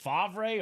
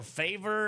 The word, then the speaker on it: Favre: Was it Favre or Favor? It's definitely Favre, but his name is one of the most butchered names when he first came in the league.